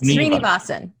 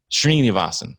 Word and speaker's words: Srinivasan: So I want to put the accent on the wrong part of the last name.